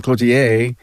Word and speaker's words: Cloutier: And I finally got the French pronunciation of your name, Cloutier.